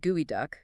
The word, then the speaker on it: geoduck: And the name pronounced gooey duck comes from a nquali Indian word meaning digging deep because it can bury itself 4 feet in the sand.